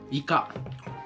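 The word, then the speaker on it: イカ: ，鱿鱼，鱿鱼的日语发音叫イカ。好，听我老婆的。イカ、イカ、キリちゃんそれ。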